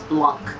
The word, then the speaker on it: Blanc: here in the States, it is appropriate to pronounce it as Blanc. So a lot of people actually pronounce that C as a K here in the United States.